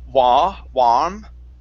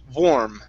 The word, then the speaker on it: warm: So, you're pronouncing an a saying warm. Okay, close your mouth just a little bit more. You want to pronounce an O vore vor warm.